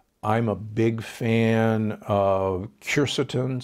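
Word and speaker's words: quercetin: a big fan of curse atone sometimes pronounced cure Seaton it's a compound that's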